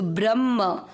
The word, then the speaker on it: ब्रह्म: सहित समझेंगे पहला चरण ब्र ब्र का मतलब हुआ ब आधा और र पूरा ब्र के बाद में लिखा उसका मतलब हुआ ह आधा और म पूरा तो ब्रह्म भू त में अ मिक्स करना ब्रह्म भूत त में अ